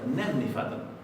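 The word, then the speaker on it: nefnifall: Bien, fall significa caso acá, lo vamos a pronunciar fadl, pero no con una D no tan enfatizada como la pronuncié yo. Esto va a ser nefnifadl. Recuerden que la doble L se pronuncia así.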